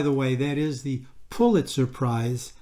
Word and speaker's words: Pulitzer: innocence and by the way that is the pulitzer prize not the pulitzer prize as many people like to pronounce it the third stamp in the series